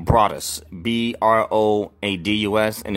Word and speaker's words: Broadus: channel is broadest YouTube and my name is spelled eat my first name er I see last name Broadus be ro ad us and it's YouTube so